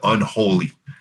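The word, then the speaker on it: Eunolie: En fait, c'est comme une prononciation archi-française de unholy. Ah, OK. Ouais, ça s'appelle Unholy, donc E-U-N-O-L-I-E, si je m'en abuse.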